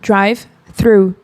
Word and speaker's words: drive through: E aí, para falar essa palavra, a gente tem que usar sempre aquela diquinha de colocar aqui a língua debaixo dos dentes, drive through. É muito importante pronunciar dessa forma, inclusive é bem diferente